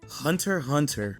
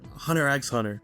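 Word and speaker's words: Hunter × Hunter: Hunter Hunter or Hunter X Hunter. It doesn't really matter how you pronounce it, but a point for calling it Hunter Hunter is that the preview for the next episode inside the title, they never say the X.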